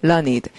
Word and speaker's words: learned: 그리고 학식 있는 이라는 말은 learned라고 발음을 해요. 소리가 learned. 이게 learned라고 읽으면 학습된이고요. 그 사람이 되게 learned하다, 그럼 똑똑하다는 얘기고, 그다음 이런 내용은 learned, 학습된 내용이다 하는 것이 발음으로 구분을 하면 스펠링은 똑같은데.